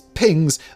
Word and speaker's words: PGNCS: control system or PGNCS pronounced by flight controllers and astronauts light as pings.